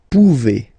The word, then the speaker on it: pouvez: Then vous pouvez. Okay, classic ending as well for the vous form. A Z like that. Okay, remember you pronounce it E. Okay, vous pouvez, vous pouvez.